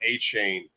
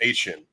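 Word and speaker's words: Achane: and said he doesn't want it to be pronounced a chain it's Asian apparently the way he wants to produce now so a Devon Asian for his Stefan Diggs I would have Pollard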